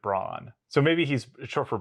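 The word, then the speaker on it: Brann: Mastodon who I mean he spells it that way but it's he pronounces it Brawn so maybe he's short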